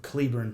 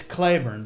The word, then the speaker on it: Cleburne: people come in and they'll say they're from Cleburn, Texas because that's how Texans pronounce the town. There was a town named after him, but it's Clayburn because you couldn't get an Irishman to be able to say Clayburn.